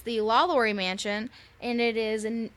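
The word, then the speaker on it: LaLaurie: the la laurie mansion i think i'm saying it right la laurie because it's not lalalora lalalorie la laurie yeah la laurie sounds good to me it's good enough for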